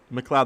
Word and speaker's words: MacLeod: MacLeod, that's how you pronounce it.